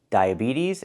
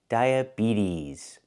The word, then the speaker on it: diabetes: Diabetes. Both e have the long e sound like green beans. Diabetes. And the t changes to a fast d. We don't say diabetes. We say diabetes.